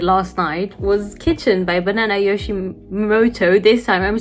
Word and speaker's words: Banana Yoshimoto: Okay, the last book that I read was actually I just read it last night, was Kitchen by Banana Yoshimoto.